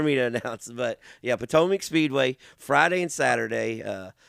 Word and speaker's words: Potomac: Yes, Potomac.